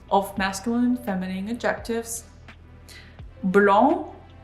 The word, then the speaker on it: blanc: Blanc, blanche. Here we have nasal A sound for blanc, blanc.